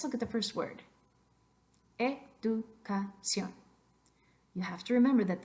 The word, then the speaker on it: educación: It's tempting sometimes because in English, that is exactly where you would accent that syllable, education. But we don't want that. We want educación.